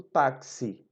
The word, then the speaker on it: táxi: A, X, I, e eu tenho 5 fonemas, porque quando eu produzo táxi. É como se fosse taxi, né? A nossa pronúncia. Então vejam só, uma palavra tem 4 letras e ela tem 5 fonemas. Então é preciso que nós façamos a distinção, por isso que é importante observar como nós pronunciamos. A gente não pronuncia taxi, não. A gente pronuncia táxi, tac, tac, T-A-C, táxi.